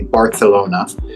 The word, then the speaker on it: Barcelona: go to Barcelona or if you want to say it correctly Barcelona uh if you go